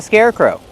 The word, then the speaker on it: scarecrow: That's why it's called a scarecrow. Kevin, how do we pronounce scarecrow? Scarecrow. First, let's look at the word scare. Use the air sound like hair and chair. Scare, together with the word crow.